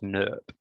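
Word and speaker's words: snRNP: leads to my favorite acronym which is pronounced snurp we'll talk about that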